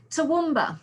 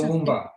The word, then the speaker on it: Toowoomba: Toowoomba. It's Toowoomba, okay.